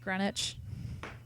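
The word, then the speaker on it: Greenwich: fighter Garrett you're right it's pronounced grenwich man I'm good yeah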